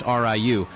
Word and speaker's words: Ryu: name correctly unfortunately no someone told me that rayu is actually pronounced Riu but I couldn't say